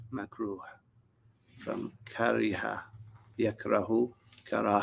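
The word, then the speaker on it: makruh: this macro macro is spelled um i would spell it m a k r u h macro from kariha yak rahu kara hatan and that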